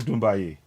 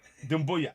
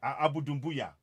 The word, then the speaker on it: Dumbuya: Thank you so much, Abu Dumbaye. If I'm saying it right, I hope I'm saying it right. Yeah, it's okay. Yes. Dumbuya, Abu Dumbuya. Abu Dumbuya.